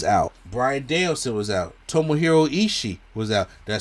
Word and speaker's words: Tomohiro Ishii: Tomohiro Ishii was out.